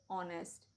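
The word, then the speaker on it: honest: so ever whole समम लेकिन कुछ ऐसे भी वर्ड्स हैं जो एच से शुरू होते हैं पर एच साइलेंट होता है example honour our एयर ऑनेस्ट English में हमेशा एक्सेप्शन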